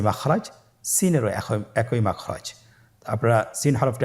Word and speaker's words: সিন: সিন এবং শিন। সিন হরফটি উচ্চারণ ক্ষেত্রে অবশ্যই 3 আলিফ টেনে পড়তে হবে। সিন হরফটি বারিক হরফ, পাতলা করে উচ্চারণ করতে হবে।